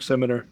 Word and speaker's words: Simianer: Yep, Simianer.